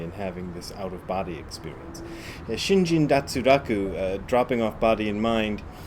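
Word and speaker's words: 身心脱落: Shinjin datsuraku is what it's pronounced in Japanese. It's actually a Chinese phrase, and it doesn't have any relation to the idea of an out-of-body experience.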